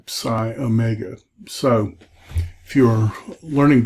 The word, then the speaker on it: psi: Then I do the last four together, phi, chi, psi, omega, phi, ph, chi, or you could do key, chi, like Christos is spelled with this word, psi, the PS sound in psychology, and then omega, omega,